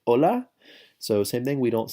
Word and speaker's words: hola: I H a why the H is silent in Spanish that's why we don't say whole law we say hola so same thing we